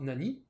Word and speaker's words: nani: remplacer le nom par nani, qui va d'ailleurs se prononcer nan, qui sera dans un mot composé.